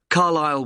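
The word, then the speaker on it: Carlisle: 45 Carlile Way. Could you spell Carlile for me? Sorry. It's C A R L I S L E. You don't pronounce the S. Carlile Way and that's in Lewis.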